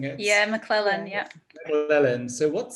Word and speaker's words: McLellan: Am I correct in pronouncing it? Yeah, McLellan, Yeah, yeah.